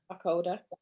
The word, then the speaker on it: Aucoda: little bit about Aucoda. Is that how you say it? Aucoda? Aucoda.